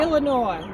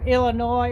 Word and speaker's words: Illinois: but yeah the s the s at the end of illinois it's a bit like arkansas of course you know